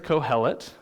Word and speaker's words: Qohelet: The Hebrew word here is kohelet. If you want to know how to spell that for your notes, it's Qohelet.